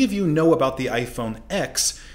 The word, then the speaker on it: iPhone X: about the iPhone X you've been pronouncing its name wrong all these years although it is in Ex Apple intended it to be pronounced as the Roman numeral 10 rather than the letter of the alphabet and this confusion is